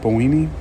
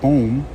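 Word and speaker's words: Böhme: Boehm, let me see, how do you pronounce that name? Jacob Boehme? Well, just kidding. We'll say uh Boehm. I'm going to pronounce pronounce it Boehm, spelled b o e h m e. We'll pronounce it Boehm for now.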